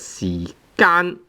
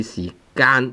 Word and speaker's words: 時間: And nowadays, some so-called Chinese scholars, they try to, they are saying that this word should be pronounced as 時間, tone 1. But then, let me tell you, this word should be 時間, tone 3, because, for example, we